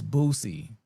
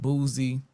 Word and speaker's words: Boosie: But your name is Booy. Not Boozy. Not Bootsy, none of that.